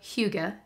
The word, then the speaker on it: Hygge: It's the Little Book of Hygge. I hope I was closer, but it's spelled H-Y-G-G-E.